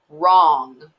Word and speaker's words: wrong: with a silent w wrong so there's a w in front of that r written again a w paired with the r that you can't hear wrapper once again a